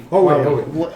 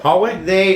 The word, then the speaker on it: Huawei: I can't even know how to pronounce it. Huawei. Hallway? Hallway. Hallway? No way. No, it's like Seaway.